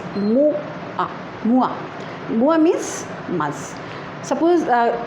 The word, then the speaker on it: mois: Mois, M-O-I-S, and in the pronunciation is Mois.